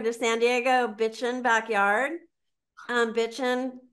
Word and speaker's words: Bitchin': Bitchin', just like it sounds, no G.